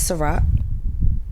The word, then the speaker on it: Sa-Roc: Her name is Sa-Roc, like the drink.